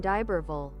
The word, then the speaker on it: d'Iberville: It's probably not Iberville. That probably sounds too, like, Englishy. It's probably pronounced Iberville? Iberville? Pierre Lemoyne d'Iberville. D'Iberville. Okay. That's how you say it in English, anyway. Iberville.